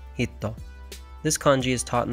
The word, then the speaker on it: 人: Today's kanji is the kanji for person, pronounced jin, nin, hito.